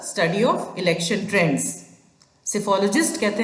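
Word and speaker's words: psephology: सिफ़ोलॉजी में देखिए प्रोनंसिएशन में भी साइलेंट है। यस। सो सिफोलॉजी इज़ the study of election trends. सिफोलॉजिस्ट कहते हैं उस पर्सन को।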